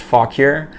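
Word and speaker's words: Fauquier: fog here virginia and on the back it's pronounced fog cure so fun stuff like that we're gonna have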